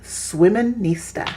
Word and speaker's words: Swiminista: Andrea has now started a new and exciting company called Swiminista.